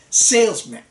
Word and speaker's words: salesman: we did not work the first syllable is stressed so you say salesman and we do not